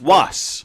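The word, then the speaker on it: Wass: Was.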